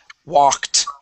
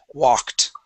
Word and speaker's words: walked: Okay, now this word here is walked. Okay, it ends with a K sound. When it ends with a K sound, that ED also makes a T. Okay, this word is walked. Walked.